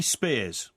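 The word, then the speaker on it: Spiers: No, it's spelled S P I E R S.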